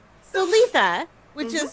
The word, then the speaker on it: Litha: So Litha which is spelled l i t h a and pronounced Litha is the celebration of the summer solstice.